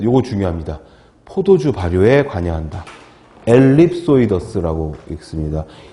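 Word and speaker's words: ellipsoideus: 엘립소이더스라고 읽습니다.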